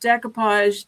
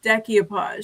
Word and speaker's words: decoupage: Um Ginger Chick Rehab not saying this any any with any disrespect, but she pronounces decoupage decky-o-podge. She adds an extra syllable to it.